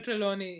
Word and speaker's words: Trelawney: Sybil Trelawney, yeah, Sybil Trelawney.